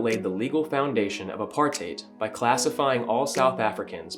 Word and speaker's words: apartheid: did that recording because i thought it was apartheid it's actually apartheid and for the kids